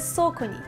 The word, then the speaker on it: Saucony: Це соконі, як sock on knee, шкарпетка й коліно.